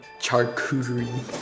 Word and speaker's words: charcuterie: foreign charcuterie yes that is how you pronounce it charcuterie tasting or charcuterie